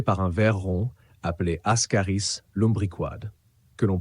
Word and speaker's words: Ascaris lumbricoides: Encore une fois, on le prononce Ascaris lumbricoides.